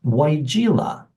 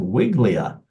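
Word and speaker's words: Weigela: those names that is a little hard to pronounce uh it's weila weila um you know some people just from looking at it it looks like gosh it looks like a wigli um we've heard that a lot my wife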